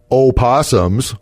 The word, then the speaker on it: opossums: bounties on raccoons skunks opossums let's say it correctly there's an O in the beginning badgers and I don't